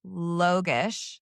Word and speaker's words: Logosz: It is Okay, pronounced Logosz.